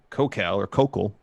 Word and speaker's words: Kokal: Local Doug Kokal, if it rhymes with local.